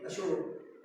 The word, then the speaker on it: अशोक: नहीं है, उसका मतलब प्रो है, अशोक ASHOKA अशोक। उन्होंने जल्ले है, उन्हें साड़ी भाषा के लिए वो जल्ले है, ये उनकी भाषा के लिए अस जल्ले, उनकी भाषा के लिए सारे जल्ले होंगे। उन्हें से अशोक का पढ़िया, उन्हें पढ़िया है उनकी कमी है,